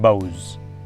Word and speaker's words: bough: B-O-U-G-H, the rhyme with cows and boughs.